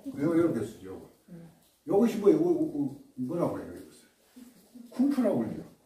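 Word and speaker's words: 功夫: 쿵푸라고 그러죠. 근데 어떻게 쓰냐면 자기 중국 발음으로는 꽁푸예요. 꽁푸인데 대만에서 쓸 때는 어떻게 쓰냐면 KUNGFU를 쓰고 중국은 GONGFU를 써요. 발음은 똑같아요. 꽁푸.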